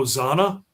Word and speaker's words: Zana: about this and I don't know how you pronounce it. Zan A. Oh, Zanna.